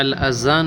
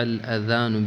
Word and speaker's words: الأذان: هل رفع الأذان يا أخي؟ أخطأت والصحيح رفع الأذان بالذال لا بالزاء.